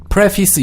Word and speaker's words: preface: 그래서 face하고 그 철자는 같은데요. 발음이 face를 안 나고요. preface 이렇게 발음을 합니다.